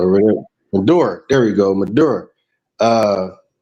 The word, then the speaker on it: Maduro: the governors that were with uh I cannot pronounce his name. I always say Mufasa, Medusa Maduro? or whatever. Maduro.